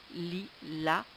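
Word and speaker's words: lilas: pour dormir un Lila l i l A S le S ne se prononce pas le lila est un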